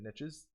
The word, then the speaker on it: niche: that there are different niches pernicious depending them.what how you say it I honestly am a firm believer of niche because I like to say lice and itch let's get that good